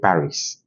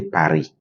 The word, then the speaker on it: Paris: For instance, in English, you say Paris, but in French, you say Paris. In French, the S is not pronounced.